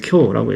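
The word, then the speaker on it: 今日: 금일이라고 해 가지고 어 금일 금요일 아니에요라고 생각하는데 금일은 한자로 쓰면 지금 금자에다가 일 날짜니까 뭐 일본어로는 쿄라고 읽고 중국어로는 찐티엔이라고 읽는데 뭐 발음은 좀 다르지만 다 의미가 통한단 말이에요.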